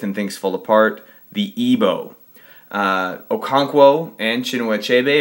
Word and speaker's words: Igbo: it's spelled IBO uh in most modern documents it's spelled Igbo but it's always pronounced ebo and this area right